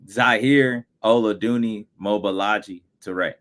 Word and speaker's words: Zahir Oladuni Mobalaji Toure: So if you can go ahead and pronounce your name for us so we can make sure we get it right. Zahir Oladuni Mobalaji Toure.